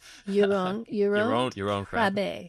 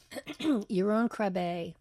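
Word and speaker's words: Jeroen Krabbé: with the actor whose name I have trouble pronouncing. Yaron Krabe. Yeah. Yaron Krabe, wonderful man, wonderful actor, interesting, smart, I just can't say enough good things about him.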